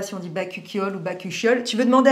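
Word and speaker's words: bakuchiol: dit bacuol ou bacol on dit bacol la prononciation se rapproche de bol très bien merci chat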